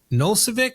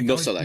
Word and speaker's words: Nosalek: Okay, keeping on kind of that, MLS Penn, who Nolcevic, what the hell was that? I Nosalek.